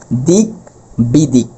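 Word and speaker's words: দিগ্বিদিক: অর্থাৎ উচ্চারণ করতে হবে এরকম দিক বিদিক।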